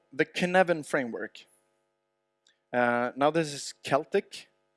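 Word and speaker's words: Cynefin: there's something called the kin Evan framework now this is Celtic so of course the fact that it's pronounced kin evan has got nothing to do with how it's spelt I recommend that you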